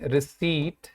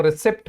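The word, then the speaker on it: receipt: ठीक है, और ध्यान रखें कि ये जो वर्ड होता है रिसीट, इसको कई लोग रिसिप्ट पढ़ते हैं, ये रिसिप्ट नहीं होता भाई, ये रिसीट होता है।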